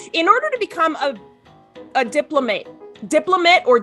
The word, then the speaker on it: diplomate: So in order to become a diplomate or diplomate, I've learned is the proper pronunciation. In order to become a diplomate of the ACVB, one, you have to graduate from an accredited vet school.